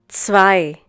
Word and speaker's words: zwei: Zwei. Once again, zwei. The German consonant Z is pronounced like the English TS sound that is found at the end of words such as mats, pots, bits.